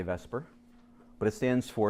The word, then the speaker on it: VSEPR: handwriting that is amazing okay so valence it's pronounced Vesper but the acronym is actually this upper but we don't say to supper we say Vesper but it stands for its if occur valence